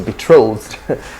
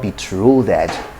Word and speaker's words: betrothed: use in ancient times so betrothed betrothed betrothed not be true that betrothed not be true